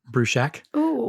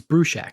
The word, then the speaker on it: Bruchac: my name is Joseph Bru Shack that's Bru Shack as in boiling up a small building and